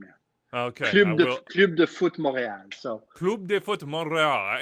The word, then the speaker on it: Club de Foot Montréal: Club de Foot Montréal. So Club de Foot Montreal. I understand that R to EAL is a little bit difficult for our American palates here.